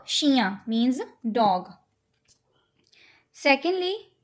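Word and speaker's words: chou: have okay so शरण यू कैन ट्राई to pronounce उन connect कर दो इट विल बी श तु सही बोल रहे हो मतलब तु उ अलग अलग बोल रहे हो बने जोड़ के बोलना शू मीस कैबेज देन सो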